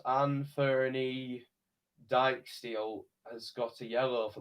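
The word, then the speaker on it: Anfernee Dijksteel: kick huddersfield town and i believe it's pronounced ann ferny dyke steel has got a yellow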